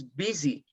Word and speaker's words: busy: pronounce busy you pronounce bc it's busy the pronunciation for this is busy busy it's not goofy that you doesn't sound